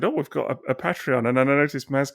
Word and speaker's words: Patreon: of the show bit and talk about our Patreon and what have you. Sorry, Maz, you're going to tell me it's pronounced Patreon, aren't you, at that stage?